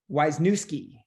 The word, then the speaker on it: Wisniewski: So his last name might be the hardest to pronounce, but it's Wisniewski. Am I correct, Adrian? Perfect. Nice job.